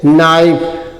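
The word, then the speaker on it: knife: ई के एन आई एफ ई तो के साइलेंट हो जाएगा इसको क्या पढ़ेंगे नाइफ क्या पढ़ेंगे?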